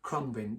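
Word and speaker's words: Khruangbin: It's a real uh I think it's spelled K H R A U N G B I N. Uh Crumbin.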